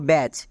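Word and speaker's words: badge: চ এর মতো যেমন দেখো ব্যাচ এই শব্দের একদম শেষে বর্গীয় জো আছে তার মানে বর্গীয় জ এর জন্য ডি জি ই হবে এখানে ডি সাইলেন্ট তাহলে বইয়ের জন্য বি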